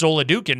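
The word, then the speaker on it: Oladokun: Chris Oladukan might not make it through the game.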